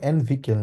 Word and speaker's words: entwickeln: To develop, entwickeln, ঠিক আছে, কিভাবে উচ্চারণ করবো? entwickeln, এল এন সহ entwickeln উচ্চারণ করবো।